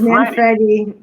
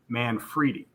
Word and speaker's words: Manfredi: I just realized I've been saying your last name wrong because of Sly Stallone on the Tulsa King, because he says Yeah, it's Manfredi, Manfredi there. Yeah, but it's correctly Manfredi.